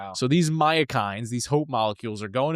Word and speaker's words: myokines: these specific proteins called myokines. I'm I think that's how you say it. It's spelled m y o k i n e s.